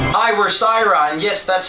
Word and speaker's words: Cyhra: hi we're sirra and yes that's how you pronounce our band name we're here at top